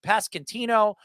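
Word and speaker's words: Pasquantino: How do you pronounce that? Ino Pascantino for two years.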